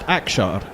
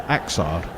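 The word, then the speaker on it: Axar: Which is why it's pronounced Akshar as opposed to Aksar.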